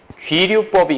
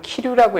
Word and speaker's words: 귀류법: 첫 번째는 대우를 이용한 대우법이 있고 두 번째는 귀류법이 있고요. 제 글씨를 보면 가끔 키류라고 읽으시는 분들이 있는데 귀야, 귀류법.